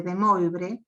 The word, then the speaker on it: De Moivre: de Moivre, sí, de De Moivre, bien, que todo el mundo le dice de De Moivre, porque lo lee tal como se escribe, pero es De Moivre.